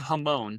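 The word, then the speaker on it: jamón: Well, I googled jamon, which I'm guessing that's how it's pronounced because they don't pronounce the J.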